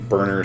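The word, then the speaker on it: Berner: Burner spelled like gas burner? Closer to Bernie Sanders.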